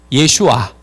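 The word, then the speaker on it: ישוע: 예슈아. 예슈아. 예수는 영어 발음이고요. 영어 지저스, 이거를 한국말로 말하니까 예수가 된 거고요. 히브리 발음으로는 예슈아예요. 그런데 예슈아 이름 속에 뭐가 있는지 한번 보세요.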